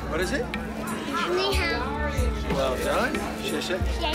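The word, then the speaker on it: 你好: Ni hao. What is it? Ni hao.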